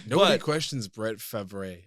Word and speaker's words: Favre: Nobody questions Brett Favre. It's obviously Brett Favre. It's not Brett Favre. It's Brett Favre. It's Favre.